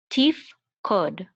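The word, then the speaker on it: תִּפְקֹד: This is going to be silent, so we're going to say tif, tif, tif, and this is a kuf, and this is a cholem, which says o, so this is ko, ko. This is a daled and says d. So this together we'll say kod, tif, kod.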